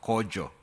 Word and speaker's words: Kojo: My name is pronounced Kojo, not Koyo.